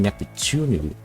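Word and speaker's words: ネプテューヌ: to the fact that pronouncing the name Neptune is hard in Japanese as different languages have different combinations of sounds due to phonotactics like pronouncing nefutunu which is Neptune in Japanese is actually tricky to pronounce especially if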